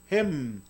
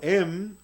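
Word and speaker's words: הֵם: El pronombre ellos, se dice en hebreo hem. Usted puede pronunciarlo em o gem. Em o gem puede pronunciarlo.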